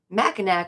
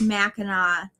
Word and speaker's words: Mackinac: just go and I watch every time them butcher the name, and they're like Mackinac, or some people just say island.